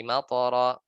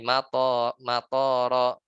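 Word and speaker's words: مطرا: Tapi kita bacanya salah. Wanzalnahu ilas sama'i matoro ya, dengan tambahan alif yang lebih panjang, harusnya matoro jadi matoro, dan Allah turunkan dari langit bandara ya.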